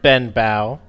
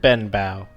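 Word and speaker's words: Benbow: he's your boss his name is um Clifford Ben Bowe one second one second one second so uh hex warband uh we have uh human male yep and his name is Clifford Clifford Ben bow Clifford bang bang yep uh and you Ben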